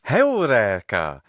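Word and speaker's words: εὕρηκα: This is the best pronounced ancient Greek in the whole film. And it's perfect. It's perfect. Heureka. The long vowels are there, the syllables, the pitch accent.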